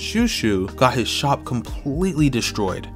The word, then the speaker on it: Chouchou: One example I vividly remember was during the Orange Town arc when the dog, I think his name is pronounced Shushu, got his shop completely destroyed.